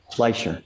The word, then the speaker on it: Fleischer: Fleischer.